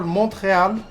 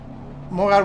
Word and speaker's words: Montreal: Montreal, which people call Montreal, but the T is not pronounced. Montreal, which is a tight hairpin onto Palmer.